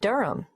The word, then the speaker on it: Durham: At 1 Uranga Street, Durham. How do you spell Durham? Durham. Of course, I should know that. But it's just one of those names that sounds quite different from the way you spell it.